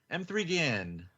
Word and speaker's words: M3GAN: M3 Gan. Right, Tim? That's how you pronounce it?